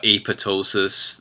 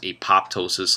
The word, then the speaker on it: apoptosis: what it is uh apotosis it's not pronounced apoptosis like you would want to say it is the second p is silent um so AP says